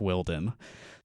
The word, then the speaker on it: Wilden: Willie Wilden and I've learned that it is pronounced Wilden nice and I think this is gonna be